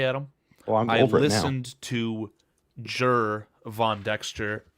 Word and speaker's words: Gervon: remember last year, it was I kept saying Gervon over and over and I couldn't fix it forever. Do you know what really helped me with that today, Adam? Oh, I'm listened to Jur von Dexter pronounce his name himself today.